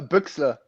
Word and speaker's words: Büxler: how do you say your last name uh buxler ruxa yeah let me uh hold on let